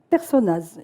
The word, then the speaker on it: Personnaz: Personnaz, il accepte qu'on prononce le Z. Hein, vous savez, du côté des Alpes, non seulement on ne sait jamais. Mais on le prononce.